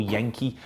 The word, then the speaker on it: Genk: as it gets or Yankee depending upon the pronunciation I've been reassured that is yank it's a silent G and then go Hank well there we are